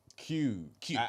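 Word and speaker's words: queue: Q. Oh, like as in as in as in the Q. Yeah. So, it's just one letter and four silent letters.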